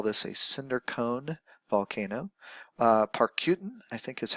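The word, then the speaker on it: Parícutin: Parcutin, I think is how you say it, in Mexico, is a cinder cone volcano.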